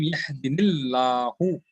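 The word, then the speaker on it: يَهْدِينِي اللَّهُ: But when you're pronouncing, you pronounce it Na'am yahdinillahu. Yahdinillahu. Right? So Allah will be in the it will be pronounced with a soft thing because of the kasra here.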